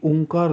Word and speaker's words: ओम: हो रही थी वो ओम ही थी आ उ और मा इसलिए जो लोग ओम